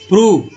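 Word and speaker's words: prove: प्रूव में ओ का उच्चारण बड़ी ऊ के रूप में, प्रूव।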